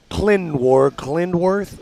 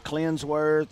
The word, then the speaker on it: Clindworth: It's okay. Clindworth. I was saying Clinsworth, and I was saying some different stuff, and it was wrong.